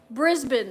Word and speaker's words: Brisbane: was to her husband Brisbane yes I was saying it wrong Brisbane is how you supposed to say it I knew that and